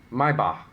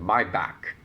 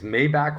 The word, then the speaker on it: Maybach: Maiba. And yes, that particular word is what Americans think is the luxury brand car called Maybach or Maybach.